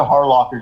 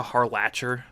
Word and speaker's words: Harlacher: Erica Harlocker does the English voice of. You mean Erica Harlacher? I've always pronounced it Harlocker for some reason.